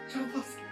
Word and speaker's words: Tchaikovsky: And, how do you pronounce that, dear? Tchaikovsky.